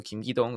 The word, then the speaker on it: Kim Ki-dong: Now, the FC Seoul manager, Kim Ki-dong, I know some people were having trouble with their pronunciation, so Kim Ki-dong, there you go, is one of the most respected managers in all of South Korea.